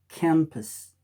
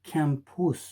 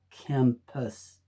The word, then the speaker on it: campus: example number one CA MP EU s is pronounced campus the the the sound of the schwa is uh uh it's not an e is so you don't say can push you say campus campus campus number two for or using the